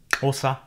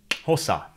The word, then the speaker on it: Xhosa: You can hear one of them in the name of the language, Xhosa. Actually, this is the first time I've tried to pronounce a click consonant, so I may be pronouncing the name of the language wrong from the point of view of a native speaker. But I guess it's something like that.